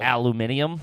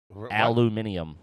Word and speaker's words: aluminium: in tin foil yeah we don't say aluminum foil aluminium yeah we're not scientists how the british say it aluminium what yeah [ __